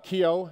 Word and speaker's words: Keough: by my last name a difficult one to pronounce and of course it's Kyo and we've got to